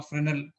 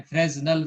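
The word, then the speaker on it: Fresnel: कहीं ऐसा ना हो कि कोई बोले भाई बताओ फ्रेनल, तो फ्रेनल तो सुना ही नहीं है, अगर आपने फ्रेजनल सुना है तो। फ्रेनेल इसका सही प्रोनाउंसिएशन है।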